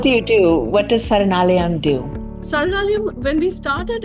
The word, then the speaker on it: Saranalayam: It's called Saranalayam.